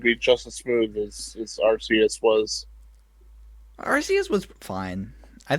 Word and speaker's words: Arceus: Do you say Arceus or something or Arceus? Yeah. Actually, it's Arceus.